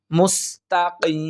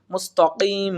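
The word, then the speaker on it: المستقيم: তাহলে ইহদিনাস সিরাতাল মুস্তাকিম, মুস্তাকিম, এখানে আমরা অনেকেই মুস্তাকিম বলি, কিন্তু এখানে হবে মুস্তাকিম, কিম, এখানে কিম, কফ, কফের উচ্চারণটা সঠিক করার চেষ্টা করতে হবে, কিম না, কিম, মুস্তাকিম।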